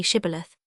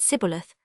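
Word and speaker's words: Shibboleth: let none pass who could not say Shibilith. The Ephraimites, being of a different tribe, could not frame to pronounce the word right, but called it cibilith, which proved them enemies and cost them their lives.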